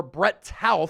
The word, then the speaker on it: Toth: So, it was Brett Toth or Brett Tal as the Eagles pronunciation guide indicates who was first up at left guard.